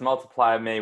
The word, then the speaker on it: Multiplymii: here now your company multiply me uh am i pronouncing that one right because it's got really interesting spelling it does so it's multiply me with the m double i um you know it's